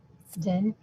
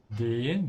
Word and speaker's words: den: Den. Den. This is the den that has a long E.